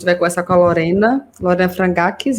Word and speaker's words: Frangakis: Hoje a gente vai conversar com a Lorena Frangakis, é assim que pronuncia?